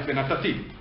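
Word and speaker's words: וְנָתַתִּי: Because the accent is not on Natati, the accent is on Ti, the end, right? Venatati.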